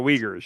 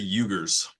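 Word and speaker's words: Uyghurs: I think it's the Ugers. No, it's it's pronounced Weaguers, but it's it's not spelled like you would think it is, but it's the Weaguers.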